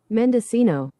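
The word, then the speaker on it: Mendocino: pronunciation. Mendescino.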